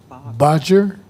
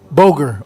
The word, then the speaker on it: Bodger: William Bodger. Is that correct? What What is it, sir? Bogger. Okay. Like Kroger almost, huh?